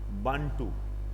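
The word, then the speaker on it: Bantu: Africa में एक जनजाति पाई जाती है, जो अफ्रीका कॉन्टिनेंट है ना उसमें, बांटू, ठीक है ना, इसको बंटू भी बोल देते हैं, ठीक है ना, प्रोनाउंसिएशन है ये।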